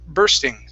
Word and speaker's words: bursting: this one here okay it's going to be an er sound instead of busting it's burr bursting bursting out bursting out good